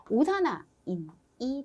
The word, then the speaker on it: 오산화인: 인을 재료로 해서 연소 생성물을 이야기하세요 라고 한다면 오산화인이 되겠네요. 자, 오산화이인이라고 읽고 싶지만 오산화인이라고 읽으시고, 자, 문제에서 다음 연소 생성물이 무엇입니까?